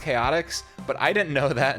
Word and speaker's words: Chaotix: you read c-h-o-t-i-x you're thinking oh that's team Chow ticks it's not it's pronounced chaotics but I didn't know that until I was